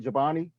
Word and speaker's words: Giovanni: not pronouncing you're right Giovanni yes that's my name like the yogurt bull with the J the Chobani yogurt with the Jake okay okay okay good